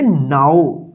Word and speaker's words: now: नो नहीं, इसको पढ़ेंगे नाउ। तो इसको आप ध्यान रखिएगा कि यहां पे भी OW है, लेकिन यहां पे आऊ उच्चारण हो रहा है।